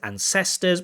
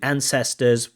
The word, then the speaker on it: ancestors: Mispronunciation, Candace says ancestors, but I know what he means. Should be ancestors, word stress, not a big deal.